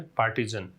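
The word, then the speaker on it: partisan: पक्षपात पूर्ण जो होता है उसे कहा जा सकता है पार्टीजन। क्या प्रोनाउंसिएशन है? पार्टीजन।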